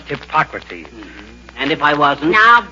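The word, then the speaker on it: Hippocrates: McGee hello McGee hi hypocrates if you are referring to the father of medicine McGee it's pronounced hipocrates and if I wasn't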